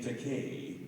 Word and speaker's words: Takei: So I said in this YouTube PSA, my name Takei rhymes with gay.